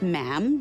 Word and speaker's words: ma'am: and after that it's just ma'am rhymes with jam and it's always a